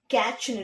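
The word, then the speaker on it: catch: கேட்ச்ன்னு read பண்ணுங்க.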